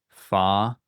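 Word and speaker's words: φ: So we have fa, ka, psa. So this is like PH or F in English. Fa.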